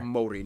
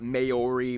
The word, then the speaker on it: Māori: Māori, not Maori, Maori.